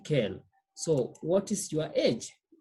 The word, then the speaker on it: quelle: We use quel, double L-E. But remember, I've said they're pronounced the same, okay?